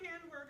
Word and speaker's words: Hamburg: Nancy show with Norm Hamburg rhymes with hamburger and Nancy Hart.